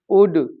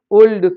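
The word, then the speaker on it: could: से वर्ड जो हैं वाक टॉक उड शुड इनमें एल साइलेंट होता है लेकिन वो इनको भी उल्ड सुल्ड वाल्क टालक करके पढ़ते हैं और वह यह स्थिति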